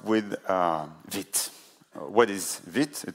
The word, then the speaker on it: Vite: uh with what is vit it's actually pronounced the French way it is the French